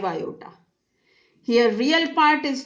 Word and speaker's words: iota: In here you can say you will pronounce it as I, but no, you should always pronounce it as iota.